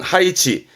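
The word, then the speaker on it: 配置: 했던 거 배자, 배치하다입니다. 발음은 하이치.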